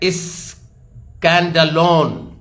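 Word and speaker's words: σκάνδαλον: SCANDALON, SCANDALON इसका pronunciation है, जो नए नियम में इसका प्रोनाउंसिएशन है स्कैंडलोन।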